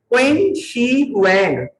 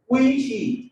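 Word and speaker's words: Qin Shi Huang: क्वीन, QUIN, क्वीन, क्वी शी। आखिर में एन जो है ना वो साइलेंट है, मतलब एन लिखेंगे लेकिन बोला नहीं जाएगा।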